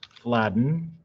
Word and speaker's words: Fladung: So I'm going to do desktop, and I'm going to save it my last name, which is Fladden, even though it looks like it's spelled Fladung.